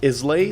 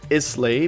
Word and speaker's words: Islay: knowledgeable on whiskeys, and he told me that like Isla is a Gaelic word, and in Gaelic you don't pronounce it Islay, you pronounce it Isla.